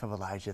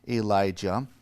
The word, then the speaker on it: Elijah: familiar with these characters there's Elijah with a J and Elisha with an sh um and I will